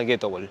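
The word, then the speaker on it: gateball: Este deporte se llama ghetto ball, que en inglés se escribiría gate, como de puerta, gate, y ball, ¿no? De bola, solo que la pronunciación así es ghetto ball, al menos acá en Aelu.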